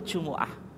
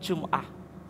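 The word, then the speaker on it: جمعة: Salatul jumuah. Jadi bisa disebut jumuah atau bisa dibaca jumuah, bisa dibaca apa? Jumah. Semuanya betul ya.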